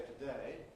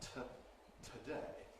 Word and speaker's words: today: Similarly, I say today, and not today.